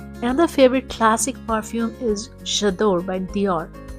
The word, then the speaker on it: J'adore: Another favorite classic perfume is J'adore by Dior. It's a French pronunciation, so the J is pronounced as Ja.